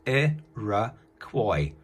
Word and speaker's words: Iroquois: did it phonetically therefore useless pronounced a rah coy and they lived in